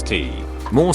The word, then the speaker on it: T. More: Provided I speak French, you can pronounce T. More similar to tes mort, which means you're dead.